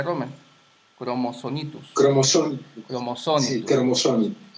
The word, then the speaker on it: Rommel: Así se pronuncia, Romer.